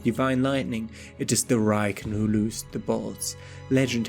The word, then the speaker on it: Raiken: Pronounced Raiken, written with the characters for thunder and dog.